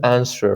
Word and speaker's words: answer: You all knew that this is answer, right? The W is silent.